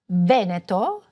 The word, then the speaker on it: Veneto: Sometimes "e"s or "o"s will be open or closed: a closed "e" in Veneto and an open "e" for Marche for example.